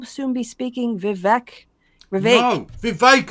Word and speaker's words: Vivek: No, Vivek, it rhymes with cake.